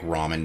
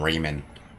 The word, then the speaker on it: ramen: Apparently, I I didn't know that, but they will lose their consistency like true like ramen noodles. I knew a person in high school used to call him Raymond Raymond noodles.